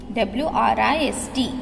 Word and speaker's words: wrist: W-R-I-S-T, wrist. W is silent.